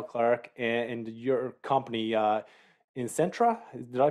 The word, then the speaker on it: isentra: bit about Daniel Clark and your company uh in Centra did I pronounce that right Eye Center yeah it comes from isentropic the word isentropic